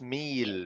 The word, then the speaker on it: meal: work on your pronunciation it's not Mill it's meal meal okay me me me